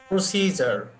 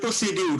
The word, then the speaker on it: procedure: আমরা বাংলায় তো এটাকে উচ্চারণ করি প্রসিডিউর, তাই না? আমরা প্রসিডিউর উচ্চারণ করি। তো অনেকে বলেছে তাহলে এটা কি আসলে এখানে ড উচ্চারণ করা সঠিক না ভুল? ভুল। ভুল। এক্স্যাক্টলি, যাদের ফনেটিক্স সম্বন্ধে মোটামুটি ধারণা আছে, আসলে এটা হচ্ছে প্রসিজার। এই ডি এখানে জ উচ্চারণ হয়ে যাবে, যার কারণে প্রসিডিউর না, প্রসিজার। এই সির উপরে এখানে একটা স্ট্রেস হবে, প্রসিজার।